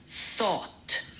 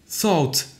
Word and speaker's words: thought: mot sort en anglais enfin terminer avec un son t net à la fin donc tout ensemble ça donne thought thought exactement c'est parfait tu